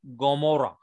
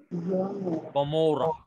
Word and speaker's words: Gomorrah: guttural letter actually, and it gives a guttural sound G. Sometimes it gives guttural sound G. So it's actually pronunciation is Gomorrah. Gomorrah.